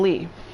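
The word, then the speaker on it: Lea: long and that is ax ax I mean Lee seriously why why are these names so weird it's spelled Leia why is it pronounced Lee so Axl is now an honorary Keyblade user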